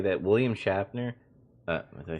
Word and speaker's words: Shatner: I want to really say that William Shatner, did I say his name right? William Shatner. There you go. Shatner.